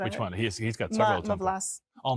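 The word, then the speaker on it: Má vlast: Mavlas. Oh, Mavlas. Yes. Mavlas. Okay, so that is how you pronounce it.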